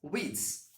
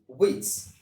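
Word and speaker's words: Wyss: with w y w s this particular word pronounced as widths so the author of this famous novel is johan david witz and this novel was first published in 1812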